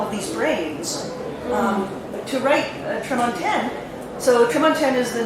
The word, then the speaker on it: Tremontaine: The Americans always go crazy because they hear me say it, and it's French, and I say it like it's French, Tremontaine, and they're all saying, oh, I feel so stupid.